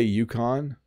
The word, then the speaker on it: Yukon: How do Canadians generally pronounce it? So I say Yukon.